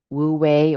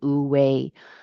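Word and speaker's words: wu wei: um wooue or as it's pronounced I believe ooi being in flow with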